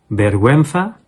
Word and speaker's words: vergüenza: So you don't pronounce the U, unless of course the U has the two dots at the top, which is the diéresis. And if you see that after a G, then the U would not be silent.